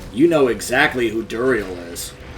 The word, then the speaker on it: Duriel: If you played Diablo 2, you know exactly who Duriel is. Or Duriel, depending on how you like to pronounce it.